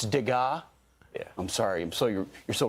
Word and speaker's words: Degas: And one of the climate activists accused of smearing paint on the case protecting Degas' famous little dancer sculpture. And Will, you told me I mispronounced the artist's name. Yeah. It's Degas.